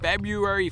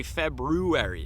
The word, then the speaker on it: February: jogger Nation it is February 1st I always want to say February because that's how it's spelled but it's not February it's February and the community challenge just